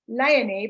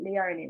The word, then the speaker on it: Leony: my name which is leony but they pronounce it leonie right like Australian thing but I'd love to say to them the way they pronounce it it's like Princess Leia and then me right so I do